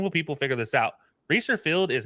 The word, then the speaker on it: Reser: Now that it's knocked down, that's just probably the most intimidating part now is how do you pronounce Reser Field? By the way, it's Reser.